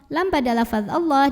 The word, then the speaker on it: Allah: lebih 2 harokat Allah dibunyikan secara tafkhim sebab huruf sebelumnya berbaris fathah maka dibacanya tebal pangkal lidah angkat Alif lamnya namanya